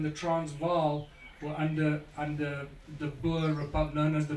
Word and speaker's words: Boer: Transvaal, were under the Boer Republic, known as the Boer Republics. Boer or Boer, as English people pronounce it.